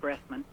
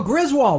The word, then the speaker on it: Griswold: oh you know i have to go with gressman who's that now you think i might mispronounce it it's my southern accent isn't it